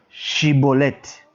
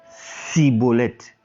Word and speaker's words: Shibboleth: Il lui disait alors, eh bien, dis Shibboleth. Et il disait Siboleth, car il ne pouvait pas bien prononcer. Donc, on dit à la personne, dis Shiboleth. Oh, dans leur langue, ils n'ont pas le chi. Ils n'ont pas cette capacité-là de prononcer chi. Ils ne peuvent donc pas dire Shiboleth. Ils disaient plutôt Siboleth.